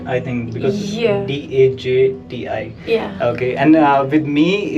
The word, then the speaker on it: Dajti: Mount Daite. Mount Daiti. Yeah. Okay, so for J you pronounce it with I, right? I think because Yeah. Dajti.